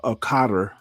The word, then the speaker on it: Qatar: fired on Qatar uh, a carter. I pronounce it Qatar. Um, I've heard it pronounced both ways. So, if uh Black Raven is in the uh crowd, um I will give him Sukor by uh informing him ahead of time that Qatar has two pronunciations.